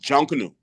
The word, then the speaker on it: Junkanoo: Um it's called Junkanoo. Spell it.